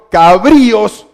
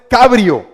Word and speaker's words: cabrío: yo escuché Ah Disculpe Mire no es Cabrio es cabrío Dónde tiene la la tilde en la i entonces ahí tiene que colocarle el qué el acento Entonces es cabrillo no Cabrio porque suena no suena bien no suena bien cabrío Porque si la sangre